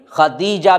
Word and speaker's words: خدیجہ: خدیجہ بنت خویلد ہے۔ بہت سے لوگ اس کی تلفظ میں بڑی غلطی کرتے ہیں، سب خدیجہ خدیجہ کہتے ہیں، تا نہیں ہے بلکہ خدیجہ ہے رضی اللہ عنہا، اور